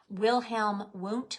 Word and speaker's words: Wilhelm Wundt: In this guy, Wilhelm Wundt, but it's spelled with W's, Wilhelm Wundt, we would say.